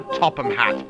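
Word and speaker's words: Topham Hatt: That's right, and it's pronounced the Topham Hat, thank you.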